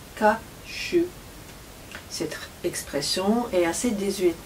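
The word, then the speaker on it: 火酒: On le prononce ka shu.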